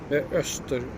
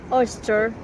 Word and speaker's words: Östersjön: Östersjön. Oster.